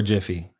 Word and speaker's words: Jif: It's either Jif or Jiffy. Jiffy. Jiffy. Jiffy for sure. Jiffy? Which one? Jiffy. Jiffy? It's Jif. Or how do you pronounce it? Jif. Jif. But it's not with the Y.